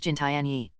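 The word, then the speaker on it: 金田一: In the Chinese rendition of the name, Kindaichi is pronounced Jintianyi.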